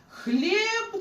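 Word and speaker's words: chleb: Потім цех, читається х. Хлеб, наприклад, хліб, хербата, чай.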